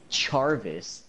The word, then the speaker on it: Charvis: Okay, when you hear Jarvis, what do you think? How do you think that's spelled? J-A-R-V-I-S. Jarvis. Okay. Like Tommy Jarvis. Well, this kid's name is actually Charvis. Charvis.